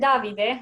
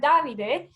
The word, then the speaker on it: Davide: with us, Jane and Davide. I think it's Davide, not David, so I'm going to use my Italian knowledge there, Davide.